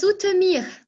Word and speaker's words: Zoetermeer: Oui, ça s'écrit comme ça, se prononce Zoetermeer.